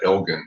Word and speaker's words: Elgin: We pronounce that Elgin here in Texas.